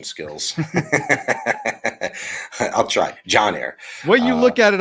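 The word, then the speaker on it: Yainer Díaz: gonna make that mistake if you look at it on paper for us uh anglos that's you know English speakers it looks like it's with a y That's how you would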